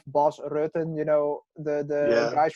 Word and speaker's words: Bas Rutten: It's Melvin Manhoef, Bas Rutten. You know, the Yeah, guys from the Netherlands always get their name pronounced wrong by English speakers.